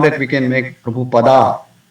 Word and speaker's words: Prabhupada: Instead of Prabhupada, we say Prabhupada, or Prabhupada, or Prabhupada. So, Prabhupada is a Sanskrit word. It's an honorary title. So, it should be pronounced as Prabhupada.